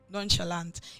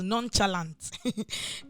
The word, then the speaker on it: nonchalant: take for example the word nonchalant nonchalant in Nigeria it's pronounced as non-challant it's not known challenge by the way it's nonchalant so when I hear someone